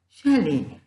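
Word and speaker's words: chalet: pronounce the word as shell there are letter T is silent what is shell sh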